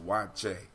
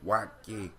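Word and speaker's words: waakye: Now it's pronounced wache, but it's spelled W-A-A-K-Y-E leaves. Wache leaves or wake leaves.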